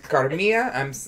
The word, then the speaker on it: Carmilla: How do you guys say it if you weren't me? Carmilla. You would say that? Yeah. I know you wouldn't say Carmilla? No. Is that how they say it? Carmilla? Double L's.